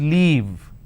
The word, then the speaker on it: leave: to live there so please pay attention to how I'm pronouncing I want to leave for I want sorry I want a leave for three days as I am travelling to Mumbai I used to live there so this is live this is leave now if I interchange